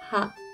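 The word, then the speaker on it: 歯: Gigi itu bahasa Jepangnya Ha. Ha. Bukan Wa, ya.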